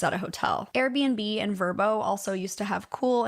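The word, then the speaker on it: Vrbo: And honestly, the fact that Verbbo wants me to pronounce it Verbbo when it's literally an acronym full of straight up consonants is pissing me off.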